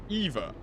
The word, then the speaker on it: Ewa: she's called Ewa, but because she's Polish and or even Germans or Dutch, all that kind of stuff, they all pronounce their W's as V's. So her name is still Eva, even though it's pronounced Ewa.